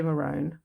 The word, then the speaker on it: maroon: it was too confusing so if i say marone i mean maroon you might find other australian videos are confused as well as to how to pronounce it but it's this deep